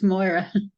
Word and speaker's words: Moira: And is it Mary or is it Mari? You have to tell me how to say the name. It's Moira.